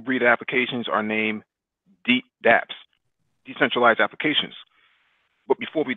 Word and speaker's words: dApps: What are DApps? Uh, dApps is pronounced as the same way as email is, where the D in DApps means decentralized.